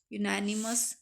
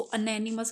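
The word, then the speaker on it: unanimous: अब 20 है, the proposal was accepted by dash यूनानिमस vote, you है, इसको अनैनिमस मत बोलना, ये यूनानिमस होता है, ठीक है।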